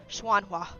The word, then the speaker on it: Xuanhua: I know the first part is Xuanhua. Xuanhua cult. I use St. Ping Kong near Wudong Mountains. Like, I've done a lot of Googling and more Googling and more Googling to try and understand how to pronounce most of these. Xuanhua. So I am pronouncing it right.